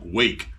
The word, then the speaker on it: Rwake: the latest offering from Wake with an r in front of it I've was trying to